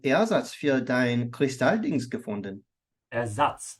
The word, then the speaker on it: Ersatz: Ersatz. The A is longer. Ersatz. Ersatz.